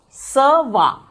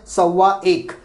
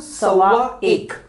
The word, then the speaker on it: sawa: See, generally it is a one behind it, so we will not pronounce it sawa ek. But if you want to say proper, you can call it as a sawa ek.